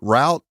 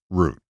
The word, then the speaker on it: route: and coaches through usage bastardize the word root and call it route it will always be properly pronounced as root in the same vein